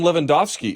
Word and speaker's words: Lewandowski: Martin Lewandowski is here, and I'm pretty sure that's how you pronounce it, because Robert Lewandowski plays for Bayern, and that's how you pronounce his name.